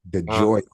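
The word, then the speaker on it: DeGioia: And I phonetically spell it on the card. Um, but as I'm as I'm about to announce the name, my brain dumps. I get caught in mouthed. I'm nervous because I'm looking at the card and I'm like, "No, there's a G." But I spell it phonetically on the card, the joy.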